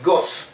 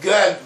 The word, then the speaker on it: Gad: And the Dalet with an added accent was also in both in Asian Ashkenazic Hebrew and also in Yemenite Hebrew is pronounced as a Tha. So you have Goth instead of Gad, may